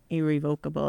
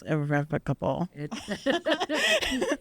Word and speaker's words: irrevocable: and I I guess I even said it wrong irrevocable it's irrevocable so with with that can